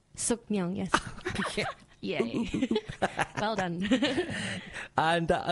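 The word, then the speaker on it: Sookmyung: I can't believe I'm going to even try and pronounce this. Sukmyung. Sukmyung, yes.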